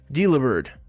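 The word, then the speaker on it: Delibird: that it is but it's supposed to be like a delivery bird it carries food all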